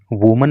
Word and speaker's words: women: देखिए WOMAN होता है तो ये एक महिला के लिए यूज होता है और इसका जो प्रोनाउंसिएशन होता है वो होता है वुमन। लेकिन जब एक से अधिक महिलाओं के लिए इस वर्ड को यूज करते हैं तो WOMEN हो जाता है और उसका प्रोनाउंसिएशन भी बदल जाता है, फिर उसको बोलते हैं वीमन।